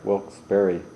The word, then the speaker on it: Wilkes-Barre: village of wilkes-barre Pennsylvania is that how you say it bear or bar was very well berry wilkes-barre Pennsylvania a long-standing agitator provocateur and